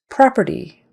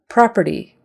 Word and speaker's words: property: proceeds is a verb property property short o in that first syllable and the first syllable is stressed property property current Insurance